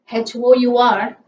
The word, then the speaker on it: hour: here in this case it is h is silent letter okay so in such